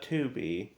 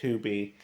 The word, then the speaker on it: Tubi: Not Tubi.